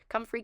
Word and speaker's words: comfrey: a plant how do you pronounce it please pronunciation and then I'll move on from the comre comfrey okay ComFree kit falling kit Primrose kit and then feather